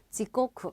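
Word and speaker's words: 時刻: 시각표 읽어요 여러분 그래서 시간 해서 직관이 아니라 각자를 서서 지코쿠 이렇게 들어가시면 돼요 그래서 지코쿠 ho 그러면은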